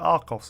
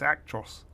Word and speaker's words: Actros: Did I call it Arcos earlier? It's Actros, it says. That's the new one. I think I mispronounced it earlier.